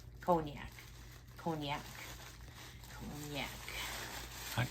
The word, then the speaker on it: cognac: that's cognac pretty sure I don't think there's a y in there cognac cognac cognac cognac I'm not